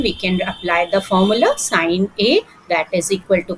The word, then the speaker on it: sine: This that is sine. Sine we pronounce sin.